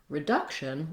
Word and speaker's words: reduction: Then when we look at reduction, we also have second syllable stress, and the duck syllable is the stress syllable. So the same thing is going to help you is starting with duck and then adding the r, duck, reduc, reduction.